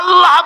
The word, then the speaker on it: আল্লাহ: পাকের নাম উচ্চারণ হচ্ছে আল্লাহ মুখটা একটু গোল হয়ে যাবে বলেন আল্লাহ পৃথিবীতে বিভিন্ন জাতি তার